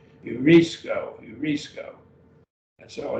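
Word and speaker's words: εὑρίσκω: dipped on you but it has that rough breathing mark q hue put a little h sound on the beginning of urisco urisco and so it's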